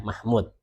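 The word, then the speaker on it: محمود: Mahmud. Oke. Bukan Muhammad ya. Di sini Mah Mahmud. Kalau ada wownnya begini ya, ada wownnya gini bacanya mah Mahmud. Kalau enggak ada wownnya bacanya Muhammad.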